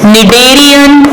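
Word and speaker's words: Schneiderian: Called very very important निडेरियन membrane. निडेरियन membrane, इसमें SCH जो है ये साइलेंट है.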